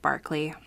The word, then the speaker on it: Berkeley: their governor governor William Barkley spelled Berkeley but pronounced Barkley I don't know why